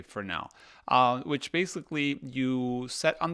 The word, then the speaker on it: Fresnel: And also from Intrepid, there's now the option to purchase a 4x5 Fresnel, or I think you say Fresnel. That's me reading Fresnel, but it's spelled Fresnel, but you say Fresnel, which basically you set